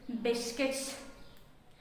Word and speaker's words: biscuits: the next word is biscuits biscuits the letter U will remain silent in this world as